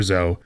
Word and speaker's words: Zoe: If Riot wanted Zoe to have 2 syllables, they could have spelt her name 2 ways.